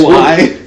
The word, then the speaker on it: Huawei: Yes, Hawaii. That's how it was pronounced.